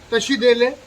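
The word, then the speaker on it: བཀྲ་ཤིས་བདེ་ལེགས: Disease, no disaster, और ले एली के कहते हैं पर के साइलेंट होता है, ले का मतलब है गुडविल। सो तशीदेले।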